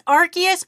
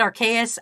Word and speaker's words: Arceus: did you pronounce Arceus it's Arceus but I called it archaeus I switch between the two who gives a [